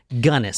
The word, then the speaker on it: Belle Gunness: her name is so I guess that's it gunnis so was hell's princess her moniker yeah she